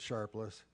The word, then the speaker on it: Sharples: And by the way, the family does pronounce it Sharpless.